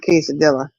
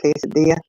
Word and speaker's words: quesadilla: Well, now D got quesadilla. Yeah. And he's like, "How do you say that?" I said, "Cesadilla." No, it's quesadilla.